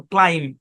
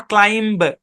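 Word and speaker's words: climb: এখানে আইটা long sound দিবে, যদিও এখানে ক্লিম হওয়ার কথা ছিল, ক্লাইম, নট ক্লাইম্ব, ক্লাইম।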